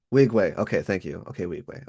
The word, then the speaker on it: Nwigwe: How do you pronounce? I'm so sorry. No, you good. Wigway. Okay, thank you. Okay, Wigway. Okay. Toby Oh, Toby Wigway. and Nwigwe. Yep, Yeah, okay, Nwigwe.